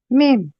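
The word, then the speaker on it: ميم: এটা পড়তে হবে 3 আলিফ টান দিয়ে, তাই মানে 3 সেকেন্ড পরিমাণ টানতে হবে। আমি শোনাচ্ছি। মিম।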